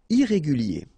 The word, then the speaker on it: irrégulier: Irrégulier. Okay, remember, I-E-R at the end of your word here, it will be ye, okay? Irrégulier. Irrégulier.